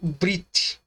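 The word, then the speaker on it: ברית: Pronunciado como se fosse escrito brit, tá?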